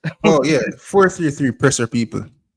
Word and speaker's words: 433 Presser: Me call you 442 press. Oh yeah, 433 Presser, people, with an ER at the end of the press.